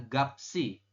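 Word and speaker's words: 값이: semuanya seperti ini teman-teman cuman nanti anda membacanya adalah bukan gap gap I atau gapet i Bukan tapi dibacanya adalah gapsi seperti ini Oke sampai sini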